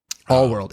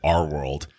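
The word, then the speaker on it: All-World: no but it is all world that's funny that's funny that I was saying it wrong it's not ours but their world but it is all world so yeah he wakes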